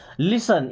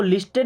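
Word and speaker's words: listen: लिसन इसको लिस्टेड नहीं पढ़ना है। यहां पे टी होगा साइलेंट लेटर।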